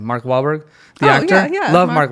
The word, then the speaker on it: Wahlberg: Mark Wahlberg, the actor?